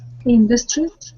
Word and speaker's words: industry: industry industry industry industry no the first syllable is stress industry industry inevitable inevitable asset